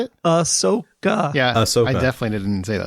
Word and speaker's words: Ahsoka: Like a soccer? Just checking. Also, it sounded like he said a soccer. I don't know. How do you say it? How do you say it? Ahsoka.